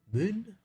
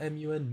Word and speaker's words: Mun: uh to the Moon Moon I hope you pronounced that m-u-n Moon I'm gonna go with mun it's because people will